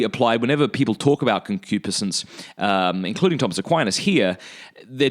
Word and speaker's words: concupiscence: And the word that Aquinas uses is concupiscence. Concupiscence, or sometimes it's pronounced concupiscence.